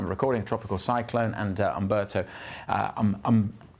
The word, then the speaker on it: Umberto: Tropical cyclone and Alberto. Uh I got to get the pronunciation right because I've been calling it Hberto and that's wrong.